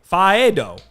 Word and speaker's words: Faedo: The A is A, the E is A. Faedo.